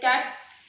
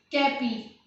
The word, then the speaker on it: cape: in the word like cap. Here I have written it cap. CAPE. We are not pronouncing this word like this, cappy. We are not saying it cappy.